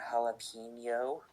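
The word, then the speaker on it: jalapeño: Letter J is always pronounced as an English H also like in jalapeno and letter H is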